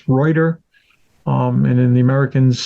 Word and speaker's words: Reuter: r e right right right in the German pronunciation it's reuer um and then the Americans seem to have U made it Rudder so I'm trying to say it the right